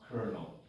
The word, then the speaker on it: colonel: So it's written with no R and it's pronounced colonel.